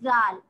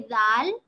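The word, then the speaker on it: د: exact same thing with dal we will touch the tip of our tongue to the edge of our teeth see dal good exactly so what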